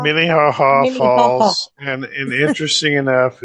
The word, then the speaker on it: Minnehaha: I can say Iowa Falls, but I don't know if Yeah, it's Minnehaha. Minnehaha Minnehaha.